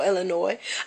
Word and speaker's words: Illinois: of illinois i know it's a s but it's called silent s do they teach that in school here i don't think so because where i'm from up north we say illinois down here they say illinois it's a whole lot of